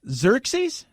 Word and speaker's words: Xerxes: for you Phil possessive adjective how do you pronounce this X Y are s eyes are brown sir-sir chase Xerxes wasn't either guy that tried to kill everybody